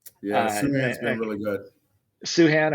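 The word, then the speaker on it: Sochan: Suhan, according to Fran Fraschilla, that's the correct way to pronounce it.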